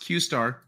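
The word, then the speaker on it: Q*: at open AI believe Q pronounced qar oh okay qar why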